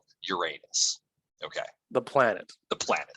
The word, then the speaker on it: Uranus: that's why it's actually Uranus and that's actually how the old Greek was pronounced as well because it comes from